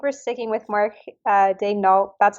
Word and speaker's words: Daigneault: how are we we are pronouncing it Mark de n like as the Thunder sent out or are we going with the with the French pronunciation I think we're sticking with Mark uh Day N that's how he pronounces it that's how prey pronounces it so